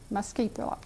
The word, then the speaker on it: muscipula: And that's how you pronounce the Latin name. Muscipula.